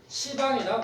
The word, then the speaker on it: 시방: 근데 우리 그 찬팅 10방 하면 숨이 끊기잖아. 발음을 하면. 그래서 우리 이걸 시방이라고 부르는 거예요.